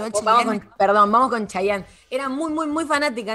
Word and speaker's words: Chayanne: ¿Cómo se dice? ¿Cheyenne? ¿Qué? ¿Está mal? Chayanne. ¿Chayanne se dice, no? ¿Chayanne? Para mí se dice Chayanne de acá a la China, pero me encantó bueno, el Chayanne.